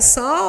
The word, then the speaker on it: sol: Porque quando a gente pronuncia sol, a gente pronuncia S, O e o som do U, que a gente não pode representar com U, porque senão seria uma representação de vogal.